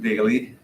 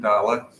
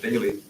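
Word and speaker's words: Daley: uh by newer people it looks like Dale of course but uh they pronounced it daily and I'm sure the original dailies the ones who came over from Norway pronounced it dala but was too difficult for non-norwegian so they said daily uh but it's Carl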